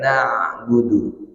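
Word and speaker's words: نَعْبُدُ: Kalau na'budu nanti ain enggak, hamzah enggak. Apalagi kalau betul-betul ke hamzah, lebih salah lagi. Maka letakkan di tengah tenggorokan na'budu.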